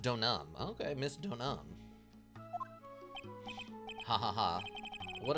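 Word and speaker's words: Deauxnim: D Nim makes sense to me actually it's pronounced donam okay Miss donam ha what a sweet thing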